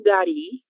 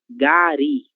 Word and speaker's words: gari: E a pronúncia é gari. Gari, a sílaba tônica.